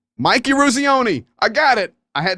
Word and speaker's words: Eruzione: I can spell it in my head. Oh my goodness. Mike. Eurosione. Oh, somebody help me, Mike. Oh, Mike, I'm so sorry. Eruzione. There it is. Eruzione. Mike Eruzione.